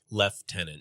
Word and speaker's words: lieutenant: They do pronounce lieutenant weird though. Left tenant. Left tenant is British. We say Lieutenant.